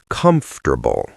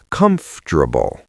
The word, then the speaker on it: comfortable: It becomes three syllables. Comfortable. Sometimes even two and a half. Comfortable. In London, we are quite similar. Comfortable. Are you comfortable? Listeners, try that. Don't say the O. Don't say the R. Just comfortable.